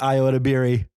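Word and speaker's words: Ayo Edebiri: friends IO and Rachel it's Senate damn it I knew I said it wrong Rachel Senate and Iota Berry so they're they're that's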